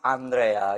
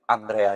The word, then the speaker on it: Andrea: And my name is Andrea. It's very It's a little difficult to pronunciate, but it's like Andrew obviously, but Andrea is my name.